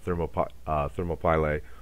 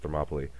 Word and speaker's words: Thermopylae: the 300 Spartans at Thermopylae or as it's mispronounced Thermopylae fighting against those those